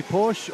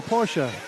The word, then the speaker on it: Porsche: Nike I say Nike you say Porsche or Porsche Porsche so I think it's where you grow up your demographics I grew